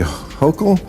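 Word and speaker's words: Hochul: Uh what do you New Yorkers think of how Mayor Eric Adams and Governor Kathy Hokll Yes. Yes, you pronounced it right.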